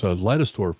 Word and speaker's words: Leidesdorff: It's Leidesdorff, which is funny because people do it both ways, but it was a Germanic name. So just like Weissman or other names of that sort, we pronounce it with that vowel.